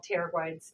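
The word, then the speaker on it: pterygoid: the medial and lateral pteroglides down here terabrite starts with the p like pterodactyl love that word i'm a sucker for the silent p but today it's all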